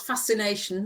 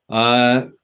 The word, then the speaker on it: Faszination: Yeah, except for it's not fascination, that's English.